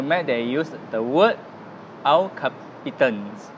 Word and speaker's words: El Capitan: So for the Mac, they used the word El Capitan. I prefer the pronunciation El Capitan. Okay. You know, Capitan is more in Malaysia way. More in Malaysia way. Yeah, but in the US, they call it Capitan.